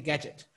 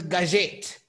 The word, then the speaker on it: Gazette: But it wasn't Gadget, right? It was Gazette because I had an accent on the E. And when they said Gadget, I got so offended. It's Gazette. It's Gazette. It's like every time, it's not Gadget, it's Inspector Gazette.